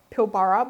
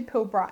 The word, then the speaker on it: Pilbara: I was pronouncing it Pilbara, but it's actually Pilbara, and one of you guys corrected me.